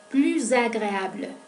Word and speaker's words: plus: Plus agréable. Al hacer esa unión, ese enlace, aparece un sonido que es similar al zumbido de la abeja.